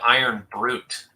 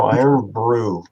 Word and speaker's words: Irn-Bru: But I thought you said Iron Brute. no, Iron Brew.